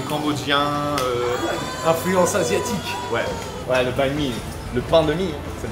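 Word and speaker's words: bánh mì: Mais la prononciation banh mi vient de pain de mie en français. Dans les commentaires, vous le saviez ou pas?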